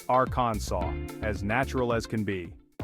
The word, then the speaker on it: Arkansas: talking about Arkansas now you might be tempted to say Arkansas and hey I get it it seems logical but hold your horses my friend because the correct way to say it is Aransas yep you heard that right it ends with a saw sound like you're about to cut some wood in those beautiful Arkansas